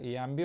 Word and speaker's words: Ambie: bluetooth kulaklık incelemesi yapıyoruz MB ya da embb olarak telaffuz edebilirsiniz ancak MB diyeceğim video